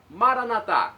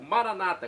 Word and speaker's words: Maranata: Jesus para o português maranat como dizemos nós católicos ou Maranata como dizem nossos irmãos separados os evangélicos ou protestantes não importa pronúncia o significado é o